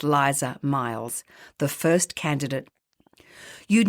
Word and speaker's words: Lisa: And like magic, there she was, Lisa, pronounced Liza Miles, the first candidate.